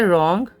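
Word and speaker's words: wrong: अब ये वर्ड देखिए, रॉन्ग में कहाँ W का उच्चारण रॉन्ग, तो कहीं ना कहीं से ये जो W है उसका उच्चारण उस तरीके से नहीं किया गया है, ये रॉन्ग हो गया। तो यहाँ पे जो W है वो यहाँ पे अर्धस्वर है, क्योंकि ये व का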